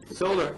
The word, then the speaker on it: Soler: Solar, which is, by the way, spelled S-O-L-E-R, because many people tend to spell it S-O-L-A-R, which is okay with us anyway.